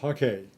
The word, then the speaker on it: hake: These are the silver brush Hake. It's pronounced Hake. It's a Japanese brush, and I have 3 sizes.